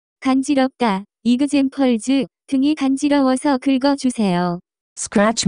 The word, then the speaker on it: 간지럽다: The pronunciation of this word is closer to 간지럽다.